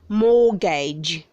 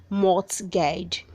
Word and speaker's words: mortgage: matrix verb 2065 says mortgage mortgage don't say mort's gauge that c is silent where 200 sex the